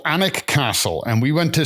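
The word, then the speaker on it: Alnwick: um this is uh so we went to anic and I'll spell it because that's how we pronounce it in Newcastle it's a l n w i c k okay and it's called anic castle and we went to see the garden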